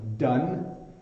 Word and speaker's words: done: done done and down so then you can see my mouth just stays open and done done and then down my mouth makes a noise now done you end with your tongue at the top of your mouth so it done and